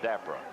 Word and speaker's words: Dapra: Dapra or Dapra? What is it? Long A, Dapra. Long A.